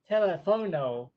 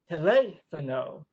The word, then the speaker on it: teléfono: To give an example of her teaching methods, one day he said the Spanish word for telephone, telefono, which is actually incorrect because in Spanish the accent is on the second syllable, teléfono.